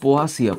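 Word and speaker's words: Poaceae: জানো আরেকটা হচ্ছে মালভেসিয়া একচুয়ালি মালভেসিয়া পোয়াসিয়া উচ্চারণটা হচ্ছে পোয়াসিয়া পোয়া মানে ঘাস গোত্র তাহলে এই যে মালভেসিয়া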